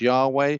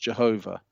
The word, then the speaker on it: Yahweh: scriptures you have the four consonants, which are YHWH or JHWH. That's either pronounced Yahweh or it's pronounced Jehovah.